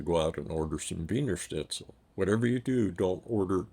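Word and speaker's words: Wiener Schnitzel: two the trick is the two-letter combination EI is always pronounced I and I E is e so the second letter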